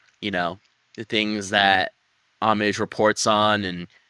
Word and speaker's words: Homage: were little Pip and amage right that's how you pronounce her name amage so there's an H there but we don't pronounce the h and they start talking